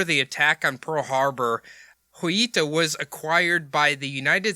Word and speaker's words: Joyita: That's why the J is silent, apparently. It looks like Joyita, Joyita.